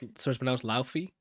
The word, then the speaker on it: Laufey: So it's pronounced Laufey. Either Laufey or Lauf.